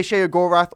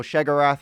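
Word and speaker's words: Sheogorath: Uh this is uh the alter ego of Shear or you can say Shogorath or Shaggarath. There's two ways to pronounce it. I'm going to say Shaggorath.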